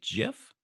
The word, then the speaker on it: GIF: up one second and did you just say jiff yeah yeah yeah the proper pronunciation Jason's correct I need